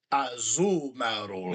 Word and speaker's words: Azumarill: Because it's Marill, but it's Azumarill.